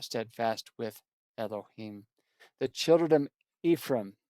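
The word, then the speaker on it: אֶפְרַיִם: The children Ephraim, in Hebrew that's pronounced Ephraim.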